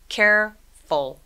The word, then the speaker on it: careful: 근데 care라는 단어와 full이 합해져서 이 중간에 있는 E는 소리를 내지 않아요. 그래서 careful, careful, careful 아니고 careful 이렇게 두 개의 소리를 냅니다.